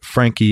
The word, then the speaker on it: Franchi: and it's Danny Frankie its Danny da n why Frankie is spelled f ra n CH I hit him up on